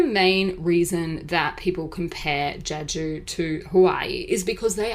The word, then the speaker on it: Jeju: Jeju Island guys uh and it is not jiju or Jeju which I've seen um some foreigners just don't know how to pronounce it so it's actually in Korean which is Jeju Island so you will sometimes see it referred